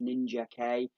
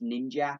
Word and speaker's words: Ninjak: It's Ninja K. Usually he's pronounced Ninjak, but this series they've got like the comma, so it's Ninja K.